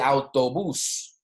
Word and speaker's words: autobús: Ok, por ejemplo, el autobús. El autobús, as you can see, my pronunciation, the emphasis is on the last syllable. Okay, el autobús, because we have an accent there.